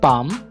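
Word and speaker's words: palm: muscle muscle অর্থ মাংসপেশি পি এল এম পাম পাম অর্থ হচ্ছে হাতের তালু এখানে এল টা সাইলেন্ট থাকবে পাম অর্থ হচ্ছে হাতের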